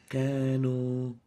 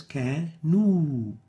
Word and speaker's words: كانوا: An example of that mistake is كانوا, كانوا, while we should pronounce it as كانوا, not O.